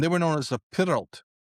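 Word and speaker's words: Pyrllt: were known as the Pyralt. It's a Welsh word, Pyralt, P-E-R-Y-L-L-T, the Pyralt, right? Although the original pronunciation, who the hell knows, right?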